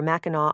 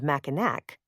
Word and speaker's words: Mackinac: the island was spelled Mackinac. But they were pronounced the same, without a final C sound.